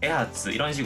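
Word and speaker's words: 衣鉢: " 타쿠 하츠 " 또는 " 에하츠 " 로 발음 됩니다 .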